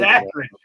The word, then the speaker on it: Akron: Well, one's the right way to say it, one's the wrong way to say it. It's Akron.